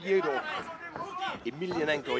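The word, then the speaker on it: Fedor Emelianenko: Yeah, he really wants to fight Fyodor Emelianenko. Yeah, that's the way you pronounce Or it.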